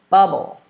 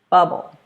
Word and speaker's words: bubble: And the last word, we're still stressing the first syllable. I'm going to let you take a second, think about how you would say it. All right, here we go. Bubble. Bubble.